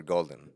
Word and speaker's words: Golden: Gold or golden golden more like the color. Golden like the color.